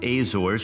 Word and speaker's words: Azores: And then thirdly, I would say the um Azor pronounced Azores in Portuguese is also becoming uh a really really popular hot spot for tourists uh from North America.